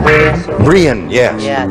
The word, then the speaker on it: Brianne: Brianne, yes. Yeah, it's a lovely. It's spelled B-R-I-A-N-N-E.